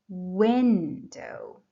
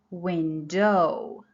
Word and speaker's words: window: In the example window, the stress is on the first syllable, so we say window. If I pronounce it with a stress on the second syllable, it will sound like window.